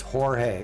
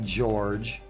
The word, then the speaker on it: Jorge: a ways to go it's Jorge it's not George it is not George it's not pronounced George it's Jorge that's right Jorge santes Jorge